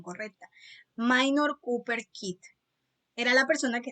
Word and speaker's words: Minor Cooper: es un nombre en inglés entonces en la pronunciación correcta minor cooper kit era la persona que estaba dirigiendo las